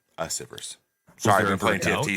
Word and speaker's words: Asivrs: Okay, so first, I guess and foremost, it's pronounced Asivrs. Asivrs.